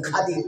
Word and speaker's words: খাদির: খাদির, উনার নাম খাদির। মানে আরবির ক্ষেত্রে, আরবিতে যদি আমরা উচ্চারণ করতে যাই তাহলে খিজির আসে না, আসে খাদির।